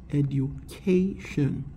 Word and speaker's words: education: noun education education and here for the word the syllable before the last syllable of the word is stress education it's very important a ducation so this word has